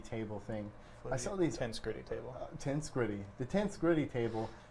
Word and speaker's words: Tensegrity: I was pronouncing this thing the Tensegrity until Tensegrity. Tim told me it's the Tensegrity table. It's tension and integrity mixed together.